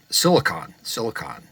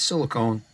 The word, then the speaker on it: silicon: Don't know if I can rebias it to use a silicon, but silicon, not silicone, silicon transistor.